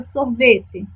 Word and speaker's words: sorvete: Quem é a sílaba tônica da palavra sorvete? Isso aí, o vé. Sorvete é a nossa sílaba tônica.